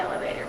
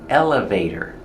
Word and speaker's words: elevator: I want to take the elevator. Let's go. Elevator. Pronunciation. Elevator. Put the stress on the first syllable. Elevator. And the T is pronounced as a fast D.